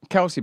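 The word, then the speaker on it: Kelce: It's the Is it the Kelsey brothers? Is that how you pronounce it? Yes. Kelsey brothers.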